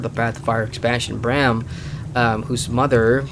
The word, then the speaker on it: Braham: It's spelled Bram, or pronounced Bram, which is good to